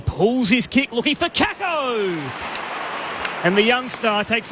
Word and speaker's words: Kako: And, am I pronouncing that right? Kako? Kako.